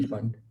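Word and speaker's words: Pfund: yeah passion then bracket yeah bracket then b fund yeah it's not even it's just panty is silent okay so bracket and fun okay i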